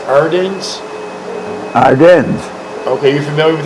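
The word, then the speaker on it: Ardennes: AR a r d e n n s ardens ardens okay you familiar with the ardens yeah okay here's one right here from Miami Florida where had the US 28th Infantry Division been engaged before the Arden's offensive with theion where where have the TW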